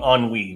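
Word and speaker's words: ennui: which is basically boredom so on WE is that what yeah e n n UI I believe is what it's spelled as which is a French word for boredom okay or something similar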